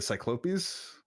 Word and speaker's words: cyclopes: I was I was grinding a dragon defender and I I had a line about like the cyclopes, which is the way to pronounce the plural of cyclops.